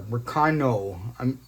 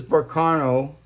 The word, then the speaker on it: Berkana: So this is Berkana. That's the more accurate way to say it. I kind of got in a bad habit of saying Berkana, but it's Berkana.